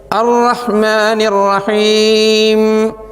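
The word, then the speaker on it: الرحمن الرحيم: അഥവാ മൂന്നാമത്തെ ആയത്ത് അറഹ്മാനിറഹീം അറഹ്മാനി റഹീം അറഹ്മാനി റഹീം അറഹ്മാനി റഹീം നാം ബിസ്മിയിൽ വിശദീകരിച്ചു അറഹ്മാനി എന്ന റാിന്റെ ഉച്ചാരണം അതോടൊപ്പം ഹാ ശ്രദ്ധിക്കണം എന്നും പറഞ്ഞു ഹാ തന്നെ ആവണം എന്ന് പറഞ്ഞു അറഹ്മാനി റഹീം നാലാമത്തെ ആയത്ത്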